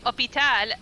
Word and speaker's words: hôpital: It's the same reason as we say hôpital, yet we take away the H.